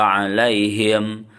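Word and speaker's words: عليهم: Alaihimnya itu ada yang ditahan, harusnya jangan ditahan, ya. Ada yang membaca ghairil maghdubi alaihim waladdallin.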